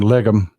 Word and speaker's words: Legum: If you're not following uh Judd Legum That That's how he pronounces his name, Legum.